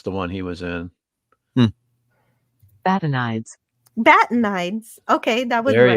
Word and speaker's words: Batanides: so he's played by Arthur but but uh bat nides no that's not how you say it but